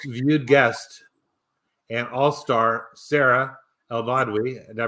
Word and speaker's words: Elbadwi: Charting Horse Value, and I brought back this week my most viewed guest and all-star, Sarah El-Badwi. Did I pronounce that right?